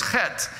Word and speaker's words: chet: One of the Hebrew letters is chet, C-H-E-T if you write it out in English, but that's not how it sounds when they pronounce it. it's pronounced like chet.